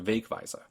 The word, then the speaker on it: Wegweiser: In this case, Weg wins the stress game, turning the word into Wegweiser.